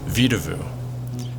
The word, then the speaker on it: Vedauwoo: It's called Vedauwoo, and it's sort of the botched pronunciation for the Arapaho word Vedauwoo, which allegedly translates to